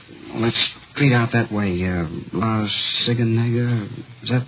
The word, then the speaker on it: La Cienega: Over on, let's street out that way, La Cienega. Is that how you say it? La Cienega, yeah.